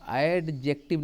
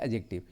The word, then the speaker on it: adjective: बार सिखाता हूँ इसको, आप एडजेक्टिव नहीं बोलेंगे, नहीं, ये एडजेक्टिव नहीं है गाइज, है ना, एडजेक्टिव नहीं, ये ड साइलेंट है गाइज, है ना, ये ड नहीं है, एडजेक्टिव, ये है एडजेक्टिव।